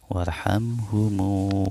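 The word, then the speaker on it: وارحمه: waih tim ukuran begitu karena sebelum Hamzah ada huruf Waw tapi kalau enggak ada huruf wawu namanya biasanya Ilham Ilham ih di tapi karena disitu ada wow maka nggak perlu dibaca hamzahnya warhamhu waafihi MU dan namanya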